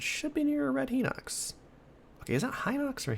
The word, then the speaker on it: Hinox: I keep calling them Henox, but Hinox probably makes just as much sense. Might sound a little better, too. and kind of sort of vaguely rhymes with Cyclops.